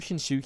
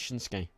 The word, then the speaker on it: Shinsuke: Shin um shinsuke Nakamura I always called him shinuki because that's how it's spelled but it's shinsuke is how you pronounce it I ion yeah